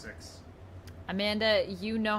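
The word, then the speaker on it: Sicks: Yeah, it's just pronounced 6.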